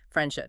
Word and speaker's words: friendship: Friendship. To pronounce the D and then immediately pull the tongue back to pronounce the she is very clunky. So native speakers entirely drop the D.